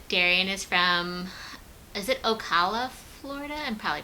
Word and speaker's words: Ocala: And then Darian is from, is it Ocala, Florida? I'm probably pronouncing it wrong. Ocala?